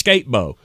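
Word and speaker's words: Skattebo: would make it actually you want me to say it how it's spelled it's skatebo congratulations skatebo I'm I'm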